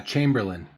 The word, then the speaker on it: Chamberlaine: what's up guys Y how do you say your last name uh Chamberlain okay as I would have expected I didn't know with the e at the end if it changed it there's a lot of